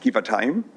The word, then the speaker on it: Givatayim: Let's build and strengthen those relationships with Givatayim, pronounced Givatayim.